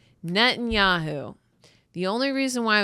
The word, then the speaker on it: Netanyahu: His name is Netanyu. Net Netanyahu. Netanyahu.